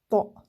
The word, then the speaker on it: ط: Parce que c'est pas un T ordinaire hein, qu'on a l'habitude, qu'on rencontre en français.